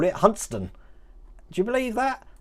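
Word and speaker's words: Hunstanton: over here or as the locals call it huntston do you believe that hunt stanton there is actually pronounced hudson just like uh let me try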